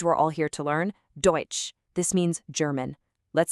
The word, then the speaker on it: Deutsch: Deutsch. This means German. Let's say it together. Deutsch.